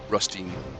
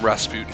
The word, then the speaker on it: Rutstein: How do you say his name? Rutstein. Rutstein. I have been calling him Rasputin for I don't know how long.